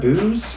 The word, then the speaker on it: Booz: go people are like is that how you pronounce that booze i'm like yeah that's how you pronounce it